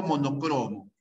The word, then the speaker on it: monocromo: polícromo o policromo micromo ya salvo monocromo es una palabra grave la tentación áspera también